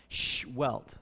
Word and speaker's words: Sehuelt: And he told me how to pronounce his name is you put your finger in front of your lips like shh, and then like you hit yourself and get a welt. Sehuelt.